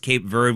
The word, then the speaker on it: Cape Verde: Uruguay against Cape Verde, and yes, it is pronounced Cape Verde when you say it in English.